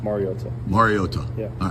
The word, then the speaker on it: Mariota: I think it's been said over the years like Mariota, which is incorrect, and it's pronounced Mariota.